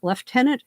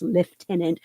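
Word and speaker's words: lieutenant: tenant at this point leftenant Hastings love that pronunciation because nobody in the US Navy says left tenant but left tenant Hastings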